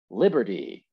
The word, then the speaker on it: liberty: focus where's the stress liberty liberty liberty right once again the stress here is on the first syllable and like i said